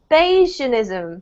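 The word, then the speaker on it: Bayesianism: questions about the English when you tried to pronounce the value Eason I would go for Bayesian ism perhaps yeah but then again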